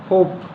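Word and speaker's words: hope: जैसे कि एग्जाम्पल के लिए देख लीजिए, नोज यानी नाक, स्मोक धुआं, होप यानी आशा, होप यानी पी के बाद ई आया है, होप।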